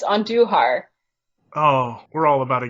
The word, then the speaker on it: Andujar: It's Andujar.